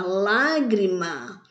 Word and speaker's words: lágrima: elas são acentuadas vejamos na palavra lágrima a palavra a lágrima tem três sílabas e a sílaba mais forte é um lá que é o última penúltima antepenúltima a sílaba mais forte caiu na antepenúltima sílaba então ela é o que uma proparoxítona em toda proparoxítona ela